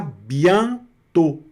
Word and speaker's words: bientôt: Então é à bientôt. À bientôt, tá certo? Nesse caso aqui, o O com o circunflexo vai pronunciar também como se fosse fechado mesmo, igual no português, aqui no O, tá certo?